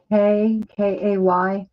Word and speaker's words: Kay: My middle name is Kay, and that rhymes with clay.